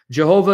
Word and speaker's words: Jehovah: Jehovah is the anglicized pronunciation of the divine name.